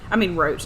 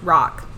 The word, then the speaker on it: Roch: Roach, not Roach. Roch.